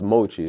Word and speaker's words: MOCHII: Um and Machi uh is which is it's actually pronounced Mochi.